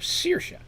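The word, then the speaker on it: Saoirse: i've mentioned before uh the goddess sercia is s-a-o-i-r-s-e which again is an irish spelling of seisha a lot of times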